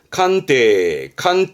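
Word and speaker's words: 官邸: 칸테.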